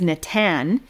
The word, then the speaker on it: Natan: He said his favorite name is Natan, which is a palindrome. It's spelled the same forward and backwards, N-A-T-A-N, either way.